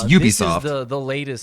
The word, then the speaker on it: Ubisoft: Well, it's Ubisoft. This is the latest. Because it means ubiquitous software. It's shortened for that, so that's how you pronounce it, not Ubisoft.